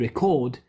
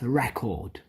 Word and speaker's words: record: this is the mouth remember in the verb it goes to the second line and in the in the noun it goes in the in the first in the first syllable so I wish I